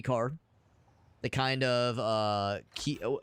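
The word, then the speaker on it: Kei: It's just pronounced K.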